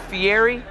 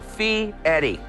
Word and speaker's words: Fieri: and that's how it's pronounced how do you pronounce the name guy fee field a lot of people call it fiery but the e the r and the i